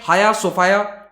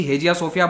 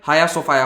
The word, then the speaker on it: Hagia Sophia: तो ये है हाया सोफाया। स्पेलिंग में जी आता है लेकिन जी साइलेंट है। अब आदत सबकी हेजिया सोफिया बोलने की है लेकिन एक्चुअल प्रोनाउंसिएशन हाया सोफाया होता है।